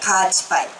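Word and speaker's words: 夏至南風: 夏至に南風と書いてカーチパイ。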